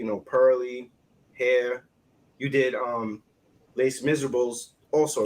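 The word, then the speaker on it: Les Misérables: stage, like, you know, Pearly, Hair, you did Les Miserables also, right? It's pronounced Les Miserables. Les Miserables.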